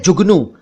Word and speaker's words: जुगनू: एक है जुगनू। जुगनू आप जानते हैं, उच्चारण मैं बता रहा हूं, जुगनू, जुगनू नहीं, जुगनू।